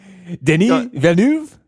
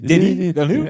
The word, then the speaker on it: Denis Villeneuve: Denis Villeneuve. Denis Villeneuve? You got to Okay, bounce. anyway. Just like it's two syllables each. Denis Villeneuve.